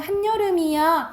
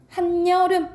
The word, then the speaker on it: 한여름: 한 플러스 지금은 한여름이야 할 때 한 플러스 여름이야. 앞에 받침 니은 들어가 있죠. 그 다음에 이 야요율 중에 뭐가 왔어? 여가 왔지. 이럴 때는 니은을 첨가해서 발음한다고요. 그래서 어떻게 발음나? 한여름 이렇게 발음난다고요.